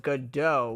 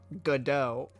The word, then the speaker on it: Godot: ever actually gotten mad wondering why you're pronouncing it Godot when it's clearly pronounced Godot I don't see